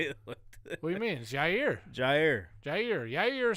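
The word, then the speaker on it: Jaire: do you say it what do you mean jair jair jair yeah you're the same thing he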